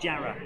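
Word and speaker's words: Jarrow: the the TR R from South Shields and jar by the way for those of you who who aren't familiar it's say it's spelled jro but it's pronounced jar and W is an A in East the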